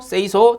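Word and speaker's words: 清掃: 이거 뭐냐면은 일본어예요. 일본어. 일본어로 요렇게 읽는다라는 거예요. 그래서 정리라는 거 일본어로 세이리, 그 다음 정돈이라는 거 세이톤, 그 다음에 청소, 세이소, 청결, 세이케츠, 습관화를 시치케 요렇게 부른답니다. 일본에서는.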